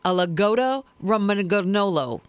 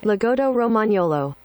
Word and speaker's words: Lagotto Romagnolo: oh here we go a lagoto roman garnolo what you heard me what that's the breed a lagota roman gogola no that's not how you say it lagotto romagnolo there you go there you go the